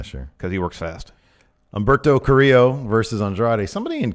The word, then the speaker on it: Humberto: offense in yeah sure cuz he works fast Umberto Carrillo versus Andrade somebody in comments at some point said that I'm pronouncing with an H I've never pronounced Umberto with an H yes it's I mean I